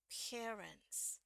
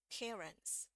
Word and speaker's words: parents: langsung aja dia sorry Nah jadi ini bacanya langsung parents ya Jadi bukan parent enggak enggak sampai e-nya enggak sampai dibunyiin banget bukan parents tapi parents parents jadi R langsung masuk ke n ya parents nah ini eh